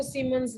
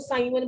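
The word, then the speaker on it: siemens: और एक इसको सीमंस भी बोलते हैं, बहुत सारे बच्चे इसको साइमन बोली जाते हैं। ये तो तुम्हारा फ्रेंड थोड़ा है साइमन, ये सिमंस है, उसमें MOO आता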